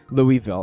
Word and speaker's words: Louisville: do you pronounce Louisville Louisville it's definitely you're not pronouncing the s that be that be